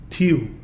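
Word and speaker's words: Tīw: father god of the Norse tradition, which is pronounced in the Norse, Tyr, in the Anglo-Saxon, Tiu.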